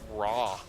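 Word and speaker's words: Raa: I'm hearing in chat Mystic Turtle saying it's pronounced raw. R-A-A, just like the word raw, R-A-W.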